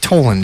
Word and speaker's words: Toland: yeah I'm sleeping right now yeah toland is your name is that correct that's how